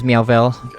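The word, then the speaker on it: Meowvelle: My name's Meowvel. Okay, how do I spell that, please?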